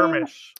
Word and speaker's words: Jarmusch: Jarmusch.